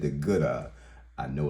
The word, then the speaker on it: GOODaaa: I said the GOODaaa. I know it's pronounced that way because I looked it up because I didn't want you guys laughing at me later.